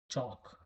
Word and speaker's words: chalk: Chalk, chalk.